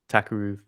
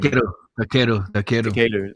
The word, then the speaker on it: Takeru: Because there's been so much talk for ages now about the whole Tenshin versus Takaru fight. I can never say his name. Takeru, that's it.